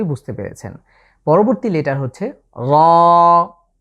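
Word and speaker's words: ر: র, বাংলার যে র আছে অনেকটা এমন, তবে খেয়াল করতে হবে এটা আমরা একটু মোটা করে উচ্চারণের চেষ্টা করব। এর মাখরাজ হচ্ছে জিভের আগাটা, জিভের আগার যে পিঠ আছে সেটাকে আমরা ঠিক তার উপরের তালুর সাথে লাগিয়ে উচ্চারণ করতে হবে।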